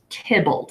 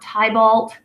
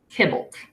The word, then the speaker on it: Tybalt: them on to use but his name is pronounced Tibbles it's not Tybalt it's not tibalt it's Tibbles okay the last one that I've included here